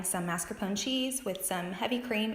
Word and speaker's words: mascarpone: mascarpone cheese with some heavy cream and some sugar, as well as vanilla and bourbon.